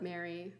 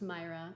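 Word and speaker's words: Maire: My name is spelled M-A-I-R-E. A lot of you already know that, but for those of you who don't know me yet, it's a Scottish spelling. And I do pronounce it Mary. When we were in Scotland, I think they did confirm that it would be pronounced Myra or Moira.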